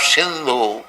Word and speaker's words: Sindhu: So people beyond the Indus river, the Mohammedans in Arabia and other countries, they pronounce H as S as H. Instead of Sindhu, they used to pronounce it as Hindu.